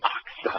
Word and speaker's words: Aqsa: The Q is before the S. It's oxa. I know.